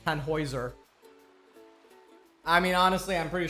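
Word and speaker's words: Tannhäuser: I know for some reason I keep accidentally pronouncing it as Tanhouser when it the actual pronunciation is tanoer.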